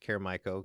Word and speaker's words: Caer Maiko: that you are uh your name is pronounced caremico because i'm looking at all